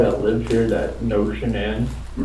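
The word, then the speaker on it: Shanann: And I don't want to pronounce her name wrong. Shenan. Shenan.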